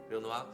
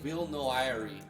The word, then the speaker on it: Villnoire: Villnoire. Villnoire. Villnoire. Villnoire. Anyway, it looks great. No, I don't think you pronounce the R in this one anyway. Villnoire. Villnoire. We're going to be playing Villnoire.